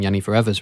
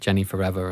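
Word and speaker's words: Jeniferever: second take back putting Yiani Forever's records out, which I think is the correct way to pronounce it after going through my head of the various different ways that people pronounce it Jenny Forever and various other ways.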